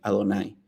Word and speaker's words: Adonay: embargo como explicábamos anteriormente este nombre solo está escrito en el texto pero al leerlo está prohibido pronunciarlo y en su lugar se debe leer como si estuviera escrito allí adonay que equivale a 65